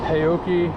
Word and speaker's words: HAOQI: about this bike the hyoki or Hai leopard Pro however you say it I've heard it pronounced both ways and I'm told that either is correct but uh this is